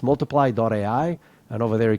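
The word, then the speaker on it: multiplai: instead of Y in the end so it's multiply.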